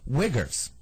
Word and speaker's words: Uyghurs: I believe they call them, and I'm pretty sure this is the proper pronunciation, but I don't want to hear any letters or phone calls about this. Muslim Uyghurs, okay?